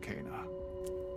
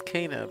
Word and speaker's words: Kena: is powerful be careful kana kana did you hear that barrow he said kana i want to go this way though oh no so it's cana for some reason it's cana but at least he